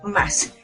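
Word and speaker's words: ます: importante recordar es que aunque la palabra dice más su y terminar con el sonido y esta última uno no se pronuncia únicamente decimos más entonces este verbo que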